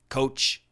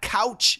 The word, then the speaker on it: coach: on your pronunciation of course the typical American pronunciation if you want to build your confidence in English I'm your man coach Shane not couch Shane coach Shane c o a c some